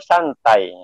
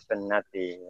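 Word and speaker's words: سنة: Nah, ini juga orang yang tidak bisa baca bahasa Arab akan baca an-nikahu santai. Kalau dia bisa bahasa Arab, maka dia akan bacanya an-nikahu sunnati. Nikah itu adalah sunnat. Kaman ghariba an sunnati falaysa minni, kata Rasulullah SAW.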